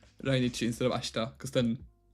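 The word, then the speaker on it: 来日: It is pronounced rainichi, which is like raishu, next week. Nichi is day. Rainichi would be next day. No, it actually means visit to Japan.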